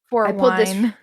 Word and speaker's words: Fort Wayne: minutes from Fort Wayne, or as we like to call it, Fort W. So, Fort Wine Fort Wine.